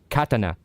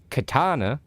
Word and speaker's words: katana: It's pronounced katana. If you pronounce it katana, then you are pronouncing it the, what side of the world are we?